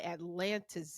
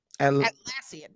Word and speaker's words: Atlassian: a study at by Atlantis in that's how you spell it I that's how you say that atlassian atlassian that's it uh yeah it's